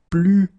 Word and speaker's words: plus: Okay, so you can see that I don't pronounce it final S.